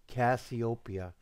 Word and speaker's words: Cassiopeia: please you're almost there you almost got sweetheart copia let roll off your tongue copia I mean am I pronouncing it wrong no G Jeff sometimes you